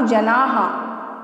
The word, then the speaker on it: जनाः: साधु जनाः, साधु जनाः, यानी कि जो 2 डॉट अब विसर्ग है इसका भी आपको उच्चारण करना है, ठीक है।